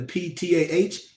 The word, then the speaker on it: Ptah: the gods and goddess, like they say with a P, Pa, but a lot of times the P is silent. So you got the PTAH, you got the RE,